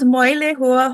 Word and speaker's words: Moilehua: It's called Moilehua Holistic Healing, and it's Moilehu.